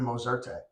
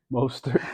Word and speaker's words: Mostert: For whatever reason, yesterday I'm watching the Miami game, and I'm just screaming Mozerte. Mostert.